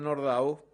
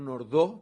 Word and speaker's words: Nordau: de la obra de nordau que es digo nord no nordo porque no era un nombre francés viene más bien del polaco en la pronunciación que sobresale por el